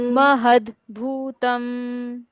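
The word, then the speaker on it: महद्भूतम्: लोकनाथम महद भूत भूतम महद भूतम यहां हमने किया महद म और ह के बाद आधा द है और भू लिखा है पूरा इसलिए इसको पढ़ा महद भूतम ध्यान से देखने में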